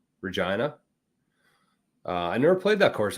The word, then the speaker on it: Regina: Waskana is in the city that rhymes with fun, Regina.